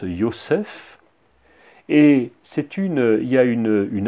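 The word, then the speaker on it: יוסף: elle va l'appeler joseph joseph dans l'original se prononce yossef et c'est une ya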